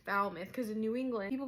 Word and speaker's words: Falmouth: And when I first saw that, I was like, oh, Falmouth. I was calling it Falmouth. It's Falmouth because in New England, people pronounce things weird.